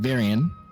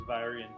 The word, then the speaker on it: Vyrian: Grug, Durin, and Varian. Is that how I pronounce that, Sam? By the way, It's Vyrian. Vyrian. Thank you, Vyrian.